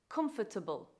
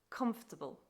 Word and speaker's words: comfortable: add an extra syllable the wrong pronunciation is comfortable the correct pronunciation is comfortable comfortable your turn Okay